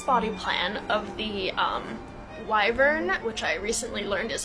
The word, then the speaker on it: wyvern: legs so this body plan of the um wyvern which I recently learned is how you pronounce it um this makes more sense with